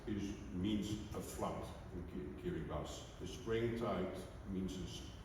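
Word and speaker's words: Kiribati: far I guess some of you know where Kiri bus is you pronounce it Kiri it's one of the small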